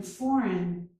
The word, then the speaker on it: foreign: And in foreign, we do not pronounce the G, foreign.